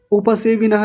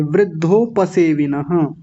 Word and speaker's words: वृद्धोपसेविनः: उपसेविनः नहीं बोलेंगे, वृद्धोपसेविनः।